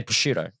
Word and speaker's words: prosciutto: Prosciutto. If I'm Australian, I'm just going to say prosciutto, right? Yeah. But I think the right pronunciation is prosciutto.